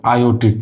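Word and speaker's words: aortic: नाम क्या होता है, आयोटिक। क्या होता है, आयोटिक वाल्व। आर इसमें साइलेंट हो जाता है, इसलिए इसको हम क्या बोलते हैं, आयोटिक वाल्व बोलते हैं।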